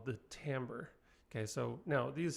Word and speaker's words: timbre: Yes, that is pronounced timbre, not timber. I know, it's annoying.